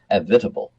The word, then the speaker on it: Avitabile: l e it looks like avat some might pronounce it that way but it was Tom avitable and uh girls just fell for this man